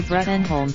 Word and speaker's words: Bruttenholm: Previously played by John Hurt, academic Trevor Bruttenholm pronounced Broom is Hellboys surrogate father